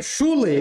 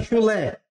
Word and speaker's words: chulé: Chule ou é chulé? Chulé é uma oxítona que terminou em E.